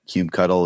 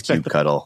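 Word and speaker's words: kubectl: a mission to spread CBE cuddle is the right way to say that so I just want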